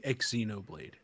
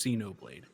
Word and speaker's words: Xenoblade: over a year now stop saying exoblade stop and like pronouncing the X you're going X Xeno Blade what is like Xeno Blade yeah just say it with a z Xenoblade Xeno Blade God